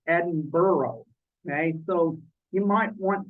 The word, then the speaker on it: Edinburgh: here you'll notice that the name Edinburgh is not pronounced the way it spelled it spelled e-b-i-n-b-u-r-g so it looks like it could be pronounced Edinburgh but it's actually pronounced Edinburgh okay so you might